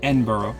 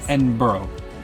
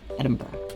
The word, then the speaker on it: Edinburgh: how they spell it, it looks like Edinburg. It does to our American, but it's not. It's Edinburgh. Edinburgh. Edinburgh. They say it really fast and low. Edinburgh.